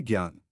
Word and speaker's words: ज्ञान: से जैसे शक्ति भक्त ज्ञ है ज और न से इसका उच्चारण अक्षर ज्ञ किया जाता है जैसे ज्ञान क्ष यह बना है क